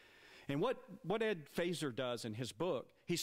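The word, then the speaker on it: Feser: faser it looks like fesser Fe R but it's pronounced phaser with an like a laser with a F and what what Ed faser does in his book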